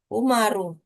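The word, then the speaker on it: عمر: Jadi kalau ada huruf wau berarti Amr dia ya, Om. Nam. Kalau tanpa wau dibaca ee umaru.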